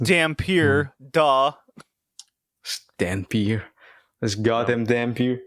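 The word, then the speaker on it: Dhampir: It's pronounced Dampier.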